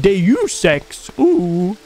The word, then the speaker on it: Deus Ex: that game too keep moving oh jumbo it's pronounced deus ex that's the only thing you guys will help